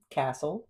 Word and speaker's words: castle: What consonant is silent in all these words? Bassen, castle, moisen, and wrestle. It's t, right?